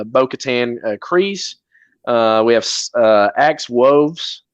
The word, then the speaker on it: Bo-Katan: Mando he was saved by, which Bo-Katan, Bo-Katan, Kryze, she says, actually pronounces it Bo-Katan.